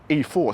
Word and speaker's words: E-4ORCE: They're only doing the all-wheel drive version here, which is called E-4ORCE, spelt with a 4, so that would be E-4ORCE.